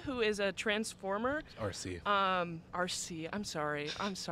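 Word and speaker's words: Arcee: It's Arkie, who is a Transformer. RC. RC. I'm sorry. It's fine. I can't pronounce things.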